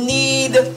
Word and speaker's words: knead: make it smooth need now this word need also sounds like an eed need when you want something when you need something but the need and eed doesn't have a k so the word is just need this word need has a k and it means to